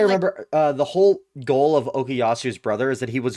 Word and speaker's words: Okuyasu: Like you pronounce it like that. Okay. Anyway, so Josuke's best friend, the Okasura, is that how you say Okuyasu.